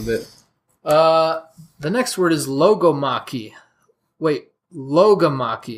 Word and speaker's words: logomachy: The next word is logomachy. Wait, logomachy. You got to get the accent on that second syllable.